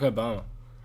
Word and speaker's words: Barack Obama: What about Barack Obama? Barack Obama. You have to say his name as like one syllable.